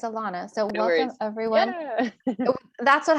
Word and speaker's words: Alana: show thank you and just one little correction love you say my name alana oh my goodness i'm so glad you i and i meant to ask you that at the beginning but thank you it's alana so welcome everyone that's